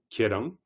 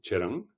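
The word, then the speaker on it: ཁྱེད་རང: Par exemple, le mot vous, pronom démonstratif, Kerang, c'est Kerang et c'est Cherang. Donc, dans le tibétain de l'Est, ça sera plutôt Cherang. Dans le tibétain central, ça sera plutôt Kerang.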